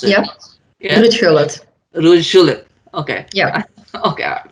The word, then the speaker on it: Gullit: Julit, how do you pronounce it? Yep. Yeah? Ruud Gullit.